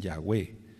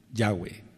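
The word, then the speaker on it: Yahweh: nosotros Por así decirlo ellos siguen mencionando la acentuación en la última sílaba Por así decirlo dicen yahwe Bueno pero lo correcto lo más correcto es lo correcto pues es en la sentación en ya yahwe por qué Porque está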